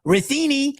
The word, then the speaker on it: Rini: YOU KNOW, I WAS just going to say I'm just going to say, you know, Rini lines with rhymes with linguini.